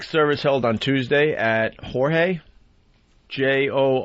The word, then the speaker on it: Jorge: will be awake service held on Tuesday at Jorge J-O R G E right Yea depends where your are from How to pronounce that Jorge Rivera Funeral Home